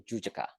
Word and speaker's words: Jujaka: And the name, we pronounce Susaka Pona, right? But the real name is Jujaka, okay?